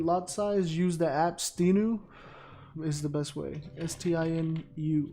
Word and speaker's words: Stinu: Can you pronounce again? Stinu, S-T-I-N.